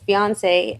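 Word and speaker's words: Beyoncé: No, Did I say it wrong? It's Beyonce, and then it's me from the South Side.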